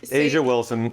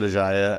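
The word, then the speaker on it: A'ja Wilson: people's names wrong no just say Asia Wilson I know I said aaya I get so nervous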